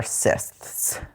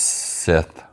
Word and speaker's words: Sith: I feel like Sith is how do you say multiple Sith? Is it like just moose and there's no me? I think it's Sith. Yeah, Sith. They are Sith.